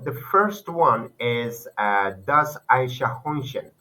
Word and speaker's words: Eichhörnchen: So as a pronunciation, I told you das Eichhörnchen, okay? Das Eichhörnchen. That's you can use Aisha, sha. Just use Aisha, sh. This sounds, okay?